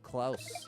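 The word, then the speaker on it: Klaus: It's on Netflix, but it rhymes with house, likelouse. Oh, Klouse.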